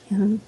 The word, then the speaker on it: Dion: And I'm like, Dion. She's like, yeah, I talked to her this morning. What's your friend's name? Dione? No, it's Dion.